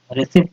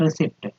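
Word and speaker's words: receipt: रि आधा प अट रिस पढ़ेंगे तो आप क दीजिए कि आप रंग हो इसे बोलेंगे writ रिसी नॉट रिसीप्ट P silent होता है ठीक है विदाउट फेल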